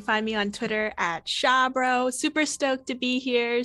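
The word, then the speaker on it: Xiabro: You can find me on Twitter at Shabro. Super stoked to be here. Super stoked to, oh my gosh, it's very exciting. Shabro is spelled X-I-A-B-R-O.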